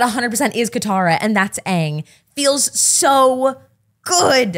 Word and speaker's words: Aang: So to see these actors and be able to be like, yes, that 100% is Katara and that's Aang feels so good. I believe it's pronounced Ong.